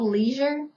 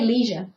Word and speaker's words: leisure: Although it's spelled leisure, we say leisure. Just like we're talking in a regular sentence, we're like, oh, I went on a leisure tour.